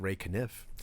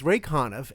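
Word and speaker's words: Ray Conniff: Ray conov okay that's a strange choice they pronounced it Ray knif but it's Ray conov and it's all singing Christmas songs you know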